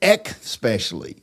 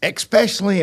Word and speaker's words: especially: a lot of people instead of saying especially, they say especially. It's especially important, not especially important.